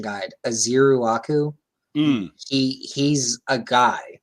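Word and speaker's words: Ezeiruaku: So Donovan, and I just found a pronunciation guide. Azeruaku.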